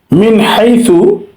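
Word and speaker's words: مِنْ حَيْثُ: ওয়াবারযাকুহু মিন হাইসু, এখানে মিন হাইসু মিম নুনজের মিন, নুন সাকিনের পরে হা আসছে হাইসু, তাহলে এখানে স্পষ্ট করতে হবে, মিন স্পষ্ট করতে হবে, আলাদা করতে হবে, এজাহার করতে হবে। মিন হাইসু এটাকে এভাবে উচ্চারণ করতে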